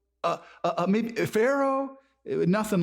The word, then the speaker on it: Pharaoh: maybe somebody with a name that starts with a P but it sounds like an f and it and it and it rhymes with uh Maro or Taro uh maybe Pharaoh nothing like that and